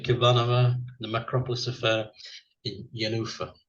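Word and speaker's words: Jenůfa: The Macropolis Affair in Yanufa, which is spelled with a J as well, but sounds like it's got a Y, so there we are.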